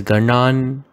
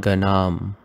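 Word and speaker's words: gaṇān: Here also, make it as Ganan, not Ganam. It's an N.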